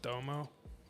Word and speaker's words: Domo: Is that not pronounced Domo? Damo Genesis. Yeah, he was part of Odd Future. I always thought it was like Domo, like the little brown the fucking guy.